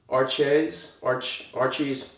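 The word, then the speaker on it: Arches: This is made, I think you pronounce it Archies, it's a French name.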